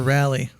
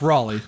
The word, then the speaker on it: Raleigh: yeah I'm just curious is it pronounced Raleigh or rally uh it's Raleigh okay I'm I'm the